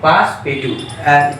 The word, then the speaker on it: Passepartout: How shall we pronounce it? Passepartout.